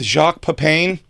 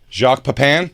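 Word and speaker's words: Jacques Pépin: Kell, are you are you familiar with Jacques Pain? You already said it wrong. Jacques Papan.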